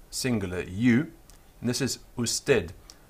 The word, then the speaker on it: usted: you, and this is usted. I'm going to pronounce it with a clear D sound on the end, although sometimes you hear that sound is much softer.